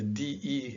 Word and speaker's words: de: The rule is that the DE is pronounced G, but don't be surprised if you hear a lot of variations here, because some people say Rio de Janeiro, not G Janeiro. So there are actually variations here to the rule,